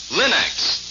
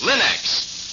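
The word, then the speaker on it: Linx: store remember to ask for them by name Linux it's spelled l i n-x Linux ask for it now now let's hear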